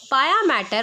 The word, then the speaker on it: pia mater: Around the स्पाइनल cord पाया मैटर और पिया मैटर, what ever you want to pronunciate. वैसे पाया मैटर बोला जाता है, सम पीपल कॉल इट पिया मैटर. इट्स all upon you which pronunciation you want to follow.